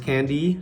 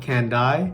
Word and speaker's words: Kandi: lastly candy stock yep it's pronounced candy not can die but from the drop